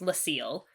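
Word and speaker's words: l'Cie: All right, so it's pronounced Lucille.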